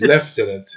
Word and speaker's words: lieutenant: a scans at you okay right so it's left in it it's one of those quirky english we have pronounced in certain words okay so deputy lieutenant